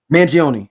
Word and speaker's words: Mangione: man Luigi and you let me get his pronunciation correct because I had it written down isn't it Manion Manion yes Luigi Manion only know because of Chuck